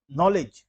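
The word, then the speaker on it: knowledge: शब्द आप जानते हैं जैसे नॉलेज के एन ओ डब्लू एलईडीज तो यहां पर जो के से शुरू हो रहा है उसे हम साइलेंट मान लेते हैं इसी प्रकार से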